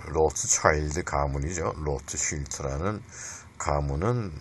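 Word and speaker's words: Rothschild: 슈클그루버인가 그런데 그 사람은 로스차일드라고 그렇게 영어를 발음하는데 원래 독일어로는 로트쉴트입니다. 로트쉴트인데 그 영어 발음으로 로스차일드라 그러는데 로트쉴트의 그 가문이 뭐 굉장히 그 돈이 많은 그 은행가 집안이었어요.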